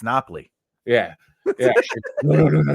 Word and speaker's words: Napoli: Yeah, it's Napoli.